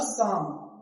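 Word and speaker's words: psalm: लिखा हुआ है, शाम, देखो एन से पहले एल है तो पहली बात तो एल साइलेंट है, अभी मैंने बताया है ना, इससे पहले एल नहीं, तो एम से पहले एल है तो एल भी साइलेंट हो गया।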